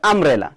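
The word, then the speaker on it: umbrella: আমব্রেলা। তাহলে বলছে ইউ দিয়া শব্দ শুরু হয়েছে এবং উচ্চারণ এবং উচ্চারণটা ঠিক ইউ এর মতই রয়ে গেছে।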